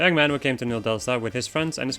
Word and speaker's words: New Delsta: Anyway, let's go to New Delstra. Or New Delsta.